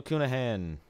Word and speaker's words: Cunahan: Daniel Cunahan, which is actually how I pronounce it according to him.